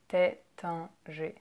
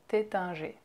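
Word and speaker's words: Taittinger: theta a theta a theta G so you see how we don't pronounce the ER at the end of those two names it's just a at the end boundary theta G next you have another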